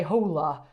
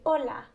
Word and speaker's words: hola: and you didn't say hola so what's up with that so the h is silent uh you kind of just pretend it's not there so you would just say hola hola say one more